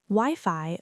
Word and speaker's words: Wi-Fi: Wi-Fi. Both parts rhyme with high.